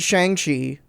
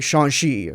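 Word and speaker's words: Shang-Chi: i mean the the everyone said shang chi until this movie came out and yeah and he like they say it in the movie like they do just call him shang chi at certain points but the first time he says that it's more like shanxi or like it's more flowy and like makes more sense but you know they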